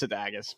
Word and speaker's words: Sadagas: Just pretend to have the worst Boston accent and then say my name. It's 3 syllables.